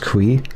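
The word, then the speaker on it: Cui: How do we pronounce the C? It's just Kui.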